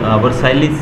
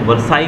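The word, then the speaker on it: Versailles: देखिए स्पेलिंग दी गई है वर्साइल्स, वर्साइलिस समथिंग लिखा गया है, तो इसको जब हम प्रोनाउंस करते हैं तो वर्साई करते हैं, वर्साइलिस नहीं करते हैं, ठीक है।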